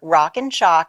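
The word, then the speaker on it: Rockin Chalk: all that yeah sure rock and chalk now I have to spell it because it sounds like shock but it's like a chalkboard rockin ro ckin ch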